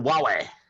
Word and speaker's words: Huawei: looks to be like So what is, I can't even pronounce this, Huawei or something like that? Oh, Huawei.